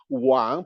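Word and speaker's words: 王: Okay, because in the word Wang, pronounced at the third tone, you have on the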